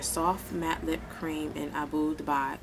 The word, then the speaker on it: Abu Dhabi: matte Lip Cream in Abu Dubai Abu Davi Abu Dhabi y'all remember this from before when I couldn't didn't want to pronounce it but I was informed that I pronounced it right Abu Davi and it's the Nyx